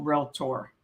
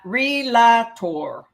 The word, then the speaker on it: realtor: to be a commercial realtor you notice how i said real tour there are two syllables real and tor so learn to pronounce